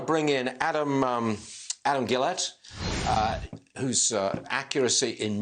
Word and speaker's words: Guillette: your name pronounced right is it gillette is it is that right it is that's exactly right thank you like the razer blade company but spelled and pronounced differently okay i'll take that